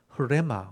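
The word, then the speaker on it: ῥῆμα: 그래서 여기 내 말이라고 되어 있는 것은 레마라는 레마, 흐레마, 원래 발음은 흐레마거든요. 히읗이 앞에 붙어 있어요.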